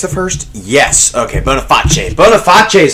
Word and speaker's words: Boniface: Boniface is how you pronounce that name.